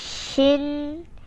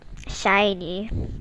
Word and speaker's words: SHINee: cover the basics obviously it's not pronounced as shin like how you recall mr charlie it's more like shiny which is pretty self-explanatory and if you don't get